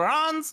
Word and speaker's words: Reims: course the circuit of RS or rans uh we'll go back and forth on the pronunciation a bit and it's a deceptively